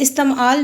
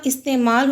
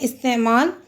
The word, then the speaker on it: استعمال: بعد ہے لفظ استعمال۔ یہ استعمال نہیں ہوتا، استعمال ہوتا ہے۔ الف کی نیچے زیر، سین ساکن، تے کی نیچے زیر، عین ساکن، میم پہ زبر، الف ساکن ہے اور لام ساکن ہے، استعمال۔ اس کے مزید الفاظ